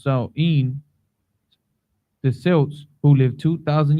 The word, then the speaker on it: Samhain: Oh, sir, it says Halloween's origins date back to the ancient Celtic festival of Samhain, Right, pronounced Samhain.